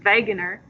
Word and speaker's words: Wegener: that all right alfred wegener because in germany they pronounce their w's like these because they're weirdos so it's veganer so he was a